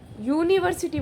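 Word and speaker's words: university: यूनिवर्सिटी begins with you, यूनिवर्सिटी बोलते हैं। क्या बोलते हैं इसे? यूनिवर्सिटी, यू। तो यहाँ पे क्या साउंड आ रहा है?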